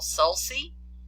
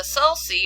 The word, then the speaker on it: sulci: sulcus so the uh the sulci or sulci you may hear pronounced either way singular is a celsus